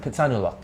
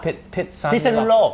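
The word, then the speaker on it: Phitsanulok: on Thailand, is Thailand Pizza, how do you pronounce it? Pitsanulok. Pizza? Pitsanulok.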